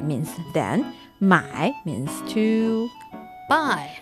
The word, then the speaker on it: 买: they share similar pronunciations, yet different tone. So, 买 that's to buy. 卖 that's to sell. 卖 Uh-huh. So,、 perfect. That's the first, no, the fourth tone.